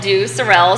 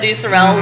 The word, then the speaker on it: Due Sorelle: normally for our English translation would call it do Sorel so most people will know it as do Sorel looking at it that's how we pronounce it